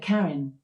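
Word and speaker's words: Karyn: How do you pronounce K A R Y N? I pronounced that Karen, but I'm always working on how I say things and I might not have it right.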